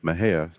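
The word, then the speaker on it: Mexia: theater 923 East Main Maha Texas Maha is spelled me x i a the zip 76667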